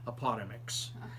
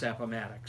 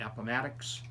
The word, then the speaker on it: Appomattox: around i remember i had one student who pronounced it apartments i thought i was going to pass out apartments it's appomattox so i stopped the class right there and i said everyone after me say appomattox appomattox appomattox and then i said okay each